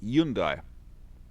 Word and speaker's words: Hyundai: in america it pronounces hyundai which everyone tells me is wrong it probably is and as i said in in the korean language uh the h is actually silent so it's yundai that's the one that's